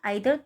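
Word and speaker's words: either: वी कैन, हम ईदर wait, या तो, ईदर का मतलब होता है ईदर या फिर आइदर, दोनों इसको हम प्रोनाउंस कर सकते हैं।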